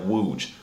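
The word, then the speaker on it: łódź: How the hell is this loads word pronounced like wooj? Why is the L a W?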